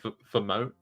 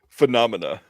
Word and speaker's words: Phenomena: you don't want to hear me try to pronounce f fonia is that right I feel like it's wrong phenomena phenomena ah see I wasn't even close the